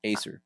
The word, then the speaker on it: Acer: Acer.